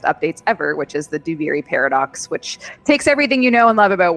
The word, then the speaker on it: Duviri Paradox: Here, I'm so afraid I'm going to mispronounce this, but the Duviri Paradox.